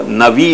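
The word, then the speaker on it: נביא: Hebrew पुरानी भाषा है वहां में वो नबी नहीं उच्चार है, वहां को नवी उच्चार है, नवी ऐसा कुछ उच्चार है, पर पीछे से वहां को उच्चारण नबी हो गया है, खास करके अपने ये कुरान के कारण।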